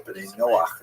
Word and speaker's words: B'nai Noach: And this is basically a Hebrew term, B'nai Noah, or B'nai Noach is the way Jews would pronounce it, that refers to all